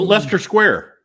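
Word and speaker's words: Leicester Square: humor so that's why the unpronounced IC right in the middle seems unnecessary but Lester Square all right we will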